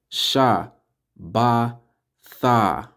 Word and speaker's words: Shabbat: as you can see it says Shabbat sha ba Tha which the a is just at the end because you're putting ba and da together means Sabbath all right